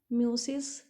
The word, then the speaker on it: meiosis: Next question है म्यूसिस, ये opposite है किसके, हाइपरबोल के, म्यूसिस।